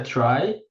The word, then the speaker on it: trie: só um parêntese né Ele fala ali que a pronúncia é try e isso vem da palavra retrieval retrieval exato Pô vem